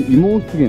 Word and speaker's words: 葦毛湿原: ますここからもう妹源って読むんですけれども出現まで